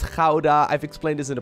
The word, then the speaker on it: Gouda: which as a dutch person i mean it's jauda i've explained this in the past it still hurts me just a little bit that people pronounce this as gouda but it is what it is anyways of